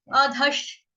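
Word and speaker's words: अधः: देख रहे हो आप, यहाँ पे श है, लेकिन ये श्र नहीं है। श कौन सा है? शबरी वाला, लेकिन आधा, आधा श है। तो इसका उच्चारण हम करेंगे अधश, अधश, अधश। अ अनार वाला, धनुष वाला, उसके साथ आधा श शलगम वाला या शबरी वाला, ठीक है, या शरबत वाला लगा देंगे, अधश।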